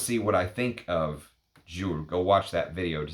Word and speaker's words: Jules: Jules, and you're supposed to pronounce it Jules, not Jules, apparently.